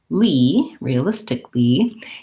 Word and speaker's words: realistically: than kali or kali that a is basically silent and there's kind of an extra l there so if i rewrote it as re realistically you might be able to say that more easily and fluently realistically so watching out